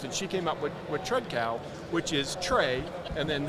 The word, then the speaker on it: Tredcal: Tredcal.